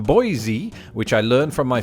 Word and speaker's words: Boise: official website quite simply replaces the voiced alveolar sibilants with a voiceless alveolar sibilants a fancy way of saying that it is Boise and not Boise it bears noting by